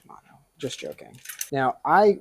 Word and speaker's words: Shimano: It's pronounced Shimano.